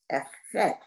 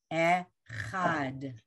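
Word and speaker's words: אחד: It's an ah vowel. Echad. Take a look at it. Okay. Echad. So the aleph is silent, everyone. We'll do it for everybody. The vowel is an eh. It's a chet with an ah. And there's a final dalet. The dalet doesn't have a vowel, so you know it goes with the letter before it. It's two syllables.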